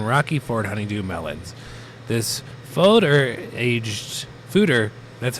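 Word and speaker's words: foeder: This fooder, that's how you pronounce it.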